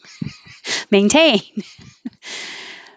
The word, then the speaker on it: maintain: rhythm where was i maintain you can say this with a t putin or you don't say the t and you say it like mountain you put your tongue